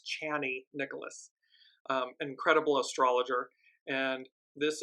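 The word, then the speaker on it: Chani Nicholas: Nicholas I I apologize I've been saying her name wrong it's channy Nicholas um incredible astrologer and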